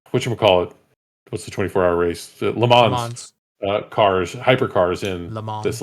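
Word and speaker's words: Le Mans: puts the 24-hour race lemons uh cars hypercars in this last year. We should say it like lemon like people actually are supposed to pronounce it not like American leans the leans.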